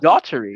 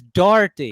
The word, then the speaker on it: Daugherty: Is Daugherty, like daughter? No, it's not. Daugherty. Yeah. Check every video. He says Daugherty.